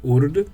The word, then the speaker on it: Urd: eu não me engano se pronuncia como Urd, Verdad e Schold.